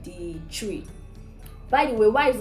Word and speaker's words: Twi: then there's there are different languages like the tree by the way why is it called tree and not twice because it's spelt twi why is it chewy if you watch this video so far i